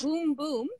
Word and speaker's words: Bum Bum Bar: So the Kitty Genovese residence, the Bum Bum Bar, which I have not visited. You mentioned it was one of the last. It's actually so. Yep. It's pronounced Boom Boom.